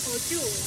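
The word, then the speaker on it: au jus: Dapat po dito yung audio. Audio, French word, but it's spelled by A-U-J-O-U.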